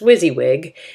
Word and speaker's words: WYSIWYG: what you see is what you get it's pronounced WYSIWYG and it refers the HTML that displays text